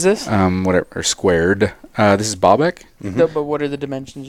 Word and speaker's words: Baalbek: Speaking of putting shit on amazingness, have you guys heard of Baalbek?